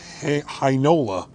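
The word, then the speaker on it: Heinola: the last one villi hinola rhymes with shinola three to go i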